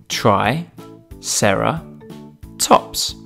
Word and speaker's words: Triceratops: who do we have with us today Triceratops try Sara tops can you say it with me try Sara tops let's learn all about Triceratops Triceratops was found